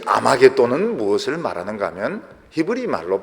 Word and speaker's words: 아마겟돈: 이 아마겟돈이라는 것은 헬라식 발음입니다.